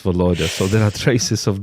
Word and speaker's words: Volodya: in Russia, meaning Volodya, it's not pronounced Vladya, it's pronounced Volodya.